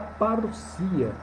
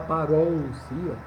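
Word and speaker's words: παρουσία: E Paulo tenta consolar esses irmãos, inclusive com a mensagem da parousia, que muitos falam parousia, mas a pronúncia é parousia.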